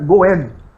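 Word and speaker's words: 五円: Que é moedinha, se pronuncia Goen, seria 5 ienes, né? Sim. Que é igualzinho a pronúncia de destino.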